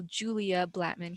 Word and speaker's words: Julia Blattman: And we have the wonderful Julia Blattman here.